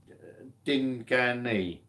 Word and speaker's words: Dinjan: His name is Dinjan, pronounced Dingani. Yes, please.